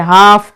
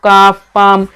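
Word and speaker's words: half: वाले भी इंपॉर्टेंट है हाफ हाफ ठीक है यहां पर क्या है जो एल है वो साइलेंट है यहां पर इनके जो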